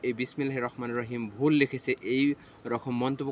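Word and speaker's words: بسم الله الرحمن الرحيم: তেমনি শুদ্ধ উচ্চারণ হচ্ছে বিসমিল্লাহির রহমানির রহিমের শুদ্ধ উচ্চারণ হচ্ছে বিসমিল্লাহির রহমানির রহিম। বিসমিল্লাহির রহমানির রাহিম হবে না, এটা হচ্ছে অশুদ্ধ উচ্চারণ।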